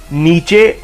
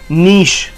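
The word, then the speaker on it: niche: mix what is means इस note नीचे और नीच इट्स नीस व्हिच means a comfortable और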